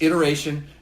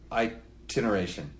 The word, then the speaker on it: iteration: It's iteration, not itineration. It iteration.